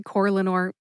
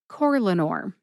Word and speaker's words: Corlanor: However, when I say Corlanor, I tend to emphasize that first syllable, core. See if you can hear any emphasis at all when I say it again. Corlanor. Corlanor.